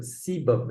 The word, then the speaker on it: sebum: Now, this oil, we call them as this is pronounced this word sebum. Everyone says sebum at home.